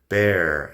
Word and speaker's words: bear: Bird, beard, bear and beer. Empezamos con bear de oso. Bear de oso tiene la R inglesa, que, bueno, en inglés americano sí que pronunciamos la R después de una vocal.